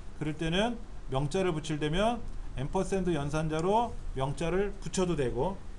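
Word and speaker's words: ampersand: 영어로 앰퍼샌드라고 읽고 앰퍼샌드. 이걸 다른 말로는 엔드라고 될 거야. 엔드. 자, 이렇게 읽기도 해요. 엔드라고 읽기도 하고 한데 원래는 앰퍼샌드라고 읽어요.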